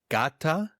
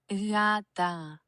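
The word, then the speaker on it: γάτα: Yata. Oh, yata. Yata. Yata. It's like you you start pronouncing the G sound, but then you switch to a Y.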